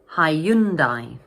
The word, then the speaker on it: Hyundai: So this word has three syllables and the middle syllable is stressed. So in English, we pronounce it Hyundai Hyundai.